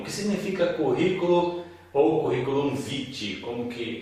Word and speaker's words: vitae: A palavra vitae, que se pronuncia na verdade vitae, vem então também do latim, significa vida.